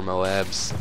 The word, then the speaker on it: MOAB: online get a hundred and oh and four moabs that would just be great uh but yeah